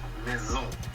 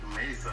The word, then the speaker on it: Maison: Oh, the way you pronounce it is Maison. Maison. Not Mason or whatever.